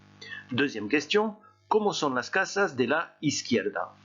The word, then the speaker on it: casa: Deuxième question, ¿cómo son las casas de la izquierda? Attention à la prononciation du mot casa, hein, on ne zozote pas en espagnol.